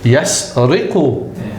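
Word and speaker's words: يسرق: So you read that ayah and you know that it's pronounced in this fashion. Yasriqu.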